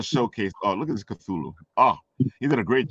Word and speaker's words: Cthulhu: He put a good Cthulhu up.